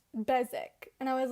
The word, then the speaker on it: Beswick: but the audiobook said besik and i was like why is there a w then no and i were i was remembering that they don't really pronounce their w's when i was in